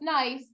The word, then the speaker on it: gneiss: Okay, this is nice, not gneiss, just nice.